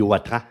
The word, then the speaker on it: Watrin: s'intitule 1886 l'affaire Jules vatrin on prononce aelleci ou ou c'est mieux oui voilà euh je me dis dans le Nord on dit watra mais bon je me